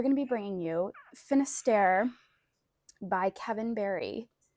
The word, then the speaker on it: Finistère: Today we're going to be bringing you Finister by Kevin Barry. Now, is that how you would say you pronounce that French destination? Finister.